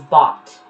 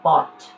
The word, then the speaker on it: bought: last bought pronunciation here this is only pronounced as bot i know there is